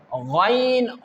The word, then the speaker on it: غ: This pair is pronounced from that part which is towards your mouth. How can we pronounce this pair? Ghain Khaa. Ghain Khaa.